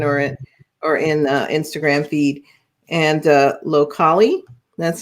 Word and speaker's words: Locali: And Locali, that's how you say it.